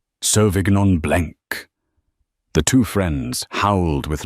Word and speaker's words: Sauvignon Blanc: "It is pronounced Sauvignon Blanc," she said, her Polish accent suddenly sounding not like a flaw, but like a statement.